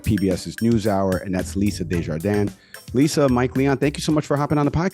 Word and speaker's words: Desjardins: correspondent over at PBS's NewsHour and that's Lisa Desjardins Lisa Mike Leon thank you so much for